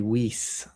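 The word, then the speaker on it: Wiese: I found out that Marie W I E S E is Marie Weise.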